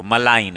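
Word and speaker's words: malign: मेरी निंदा मत करो मलाइन एम ए एल आई ji silent होता है इंडल्स इन मड स्लिंगिंग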